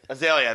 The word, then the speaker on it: Azalea: Iggy Azalea. Is that how you say it? and Iggy I- Azalea, right? Azalea, there you And go.